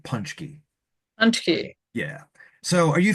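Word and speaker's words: pączki: Punchkkey. So, locally, all of the old Polish grandmothers around here pronounce it punchky.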